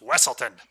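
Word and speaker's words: Weselton: of witch kingdom wesselton there's weaselton weasel town wesseltown or wesselton that's pronounced wesselton t-o-w-n or t-o-s-o-n yes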